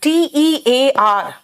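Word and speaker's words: tear: क्या है आंसू ओके अगर इसका मतलब आंसू है तो इसका प्रनंसीएशन टियर होगा टियर ठीक है और टी ए ए आर का मतलब अगर फाड़ना है इसका मतलब अगर पढ़ना है तो बेटा इसका प्रनंसीएशन देर होगा लेकिन बताओ खुद जरा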